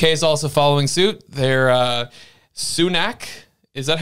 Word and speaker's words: Sunak: They're Sunak.